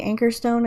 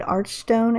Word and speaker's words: Anchorstone: I don't know how to pronounce anything in this freaking game because apparently I can't even pronounce Anchorstone correct because people were angry at me because I didn't say Anchorstone, I said Archstone instead, and like, who cares, honestly, but whatever.